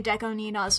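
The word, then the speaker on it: DECO*27: I've learned how to say Deko Nina's name, by the way. I'm sure people in the past have been like, you fucko, you're saying it wrong. Deko Nina, I know now.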